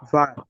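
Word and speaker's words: war: হচ্ছে বের দু পার ভার জি ইশ থাকলে ভার হবে ওটার উচ্চারণ হবে ভার ভার জি ভার তারপর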